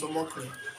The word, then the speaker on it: Omokri: Omokri, I don't know how to pronounce, but I know Reno is there. Omokri, yes, it's Omokri.